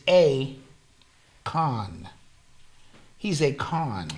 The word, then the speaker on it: Akon: yeah first of all his name is not Akon it's a Khan he's a con right